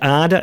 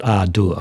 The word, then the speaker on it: Ardour: There was a discussion about the pronunciation, and he said Arda. He actually, what's his name? Oh, forgive me, but he pronounces it Arda, and I used to pronounce it Ardur.